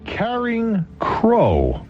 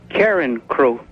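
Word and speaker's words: Carencro: williams we go to carrying crow well there's a name and a half louisiana hello there mr williams good evening hi the uh the proper pronunciation is uh karen crow karen crowe okay i stand very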